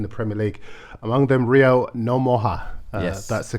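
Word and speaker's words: Rio Ngumoha: Among them, Rio Nomoha. Yes. That's the correct spelling, pronunciation of his name.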